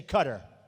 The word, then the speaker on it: Qatar: the airport in Qatar which they say cutter I've always said Qatar so what the hell